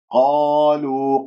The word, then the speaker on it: قالوا: قالوا، قاف مفتوحة بعدها ألف مفخمة مرتبة أولى، لا تقول قالوا، لا إعمال للشفاه في حروف الاستعلاء السبعة المجموعة في خص ضغط قر، فانتبهوا، قالوا ما الطبيعي، لأنه